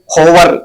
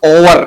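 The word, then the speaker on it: hour: इसका बड़ा फेमस है हम क्या बोलते हैं होवर होवर नहीं बोलना ओवर क्योंकि एच तो हमारा साइलेंट होता है गोस्ट में हम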